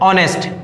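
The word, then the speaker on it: honest: एच आए, वहां पर एच क्या हो जाएगा, साइलेंट हो जाता है। ठीक है, तो देखते हैं कैसे। ये क्या है, ऑनेस्ट, ये क्या है, ऑनेस्ट।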